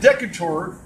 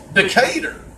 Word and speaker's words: Decatur: school six more yeah or Decatur sorry see I'm not even from there I can and say it right now you've seen with an accent either so it's Decatur yeah okay so ya know it sounds like with the name Decatur so you're a combo